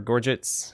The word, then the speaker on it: gorget: Gorgets, or Gorgets, protect the throat during battle, although offer little by the way of flexibility.